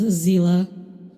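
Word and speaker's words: Seele: during the beta that the English localized Seal's name as Zila. I will continue pronouncing it Seal because that's how I have pronounced it in the Chinese dub of Honkai Impact for years.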